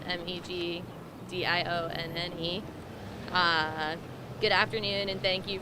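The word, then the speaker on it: Meg Dionne: thank you hi everyone my name is meg dion it's spelled m-e-g-d-i-o-n-n-e good afternoon and thank you for coming my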